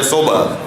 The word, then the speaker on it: صبح: صحیح تلفظ ہے صبح، ہم اردو میں صبح کہتے ہیں.